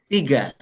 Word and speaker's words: tiga: And for two, we pronounce it da da da da da da da. And three is tiga.